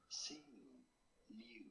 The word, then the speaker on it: Simu Liu: Sing Liu.